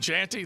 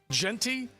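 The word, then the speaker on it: Jeanty: love uh this this Sunshine kid is it janty that's how we say his name JY Genty all right how about this 95 carries 131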